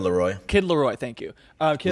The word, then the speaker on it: Laroi: Yeah, and some of like the newer names, like the Kid Lowry, is that how you say it? The Kid Laroi.